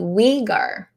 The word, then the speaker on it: Uyghur: Ooh, I've got a pronunciation. Thank you. Uyghur.